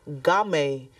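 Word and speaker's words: GAMAE: foundation that yes we have a organization called game G is spelled g a m a e and it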